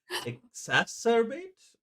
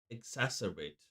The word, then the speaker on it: exacerbate: Exaserbate. No. Exasperate. Exacerbate.